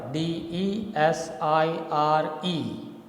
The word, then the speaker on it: desire: Say, for example, the word desire, Desire, it has 2 syllables, desire. But the first one is unstressed, the second one is stressed. So you speak it in a proper rhythm like this, desire. Zaya is stressed.